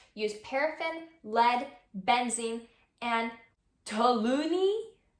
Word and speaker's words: toluene: Investigations into the making of scented candles show that most brands use paraffin, lead, benzene, and toluene.